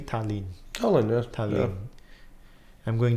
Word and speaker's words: Tallinn: Did I pronounce correctly? Tallinn. Tallinn, yes.